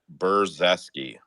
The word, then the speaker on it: Brzeski: say his last name I want to say it's Bashi say one more time buresi there we go perfect um wter Walker if